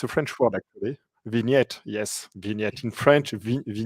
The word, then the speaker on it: vignette: you say that it's a French word actually vignette yes vignette in French yeah it's on the